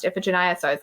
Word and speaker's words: Iphigenia: I think there are multiple ways to pronounce it. I always said Iphigenia in my head, but all of my theater friends say that in theater circles it's pronounced Iphigenia, so I was like,